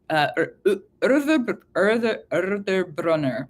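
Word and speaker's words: Urðarbrunnr: Urðarbrunner. That's the like direct pronunciation.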